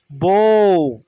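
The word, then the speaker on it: bough: মানে দেশবিরোধী ঠেইঠ ঠেইঠ ওকে ঠেইঠ মানে দেশবিরোধী বউ বউ মানে গাছের ঢাল বি ও ইউ জি এইচ বউ বো গো উচ্চারণ করেন না গো লাইক সেম বো বউ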